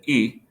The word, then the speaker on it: y: letter E for and, the letter Y, I guess, in English, but E is how it's pronounced, E, and then the number uno, the ones digit.